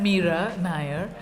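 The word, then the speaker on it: Mira Nair: diaphragm is anything I've Mira Nayar rhymes with fire so what does this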